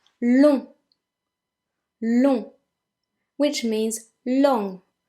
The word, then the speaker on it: long: Number 9, long. Long, which means long. Now again, the G being as it's the last letter and it is a consonant, it is silent.